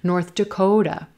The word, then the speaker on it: North Dakota: North Dakota, North Dakota, Rose Boat, North Dakota. Again, emphasis on the word Dakota and our Rose Boat sound.